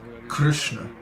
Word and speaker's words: Krishna: that but actually the way it should be pronounced Krishna there is no I no Krishna Krishna so